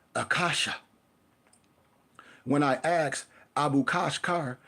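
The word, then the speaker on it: Akasha: Like the word is pronounced accasha.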